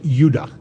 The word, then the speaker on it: Judah: called benjamin and judah more properly pronounced yuda because we didn't get the harder sound to the j until about 200 years ago so this is what